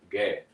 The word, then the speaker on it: Gad: Gad is pronounced exactly how it's pronounced in English. Gad, Gada.